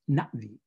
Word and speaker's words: Na'vi: And so the name of the language is spelled N-A apostrophe V-I. You pronounce that apostrophe. It's not Navi, it's Na'vi, Na'vi.